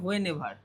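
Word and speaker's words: whenever: হোয়েন, দেখো হোয়েন এয়ার আছে না, এটার উচ্চারণ হচ্ছে হোয়েন এভার।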